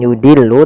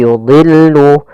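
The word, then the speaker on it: يُضِلُّ: katsir wamaa yudillu bihi Pada lafal yudillu do di sini huruf istla termasuk huruf tafhim maka dia tetap dia ditebalkan bukan yudillu tapi yudillu kemudian lamnya tipis yudillu bihi katsir pada lafal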